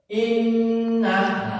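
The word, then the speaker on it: إنَّ: Berarti double inna. Tulisannya seperti ini. Nunnya double. Seakan-akan nanya dua tapi karena padahal satu seakan-akan nanya menjadi dua. Jadi cara membacanya ganda. Inna. Ada tekanannya.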